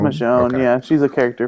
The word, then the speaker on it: Michonne: would have Yeah, it's Michonne. Michonne. Okay. Yeah, she's a character from The Walking Dead. Oh, okay. Okay. The Michonne miniseries comes out for